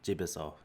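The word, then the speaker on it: 집에서: that's all right so to pronounce this you need to say jibiso and now uh you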